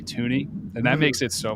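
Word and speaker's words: Thuney: think it's really funny people pronounce his name thuni it's really toony and that makes it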